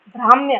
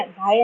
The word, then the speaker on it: ब्राह्म्य: ब्राह्म्य, बाह्य नहीं, ब्राह्म्य संप्रदाय ने बताया है, मैंने गलत प्रोनाउंस किया था, ब्राह्म्य संप्रदाय ने बताया है।